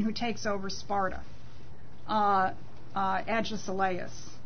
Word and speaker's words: Agesilaus: Uh Agesilaus or Agisilaus, however it would be pronounced I guess Agisilaus I guess it would be pronounced.